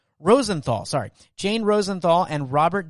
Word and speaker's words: Rosenthal: make sure i say her name right jane rosten rosenthal sorry jane rosenthal and robert de niro as